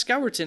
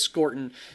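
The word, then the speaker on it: Scourton: I've said Scortton all off season and then I got it in my head that maybe it's pronounced skeleton at the last second and then the beast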